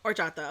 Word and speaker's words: horchata: where in michigan but i don't pronounce the h oh okay my bad